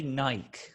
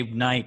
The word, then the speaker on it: Nike: Okay, you say Nike, okay? I was gonna let it slide, but now I'm not. Okay, he says Nike because the British say Nike for some reason, even though it's Nike.